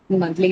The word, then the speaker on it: monthly: So ly then, because it's a suffix that takes on the first syllable, monthly will get it on the first syllable.